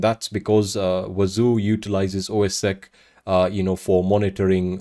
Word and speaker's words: OSSEC: on those systems now I am going to be calling OS SEC OS Sac you can also you know uh you know you can also pronounce it as ossec whatever works for you foreign so what